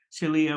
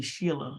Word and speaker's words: Celia: I think someone um pronounced my name's Celia which is the correct pronunciation but unfortunately um a few Decades of people calling me Sheila I've just decided to